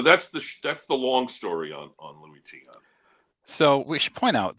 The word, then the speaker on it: Luis Tiant: So that's the long story on Louis Tiant. So we should point out that one time when he first said Lewis Taint, I initially thought, okay, that's terrible, but it's probably a slip of the tongue.